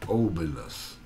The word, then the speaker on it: obelus: as a ided b using what's called an obelus if I'm pronouncing it